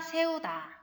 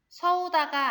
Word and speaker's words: 세우다: 서다, 세우다. 서우다가 아니고 세우다입니다.